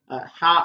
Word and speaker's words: ح: வித்தியாசமாக இந்த எழுத்தை பொறுத்தவரையிலே ஆங்கிலத்திலே இருக்கின்ற எச்சுக்கும் வட ஹானாவுக்கும் வித்தியாசமான ஒரு ஓசையிலே இந்த எழுத்தை நாங்கள் உச்சரிக்க வேண்டும் ஹா ஹா என்று நாங்கள் உச்சரிக்க